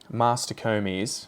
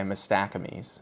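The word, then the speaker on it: Mastacomys: But this thing is Mastocomes was the way they used to pronounce it, and I'd say Mastacomes.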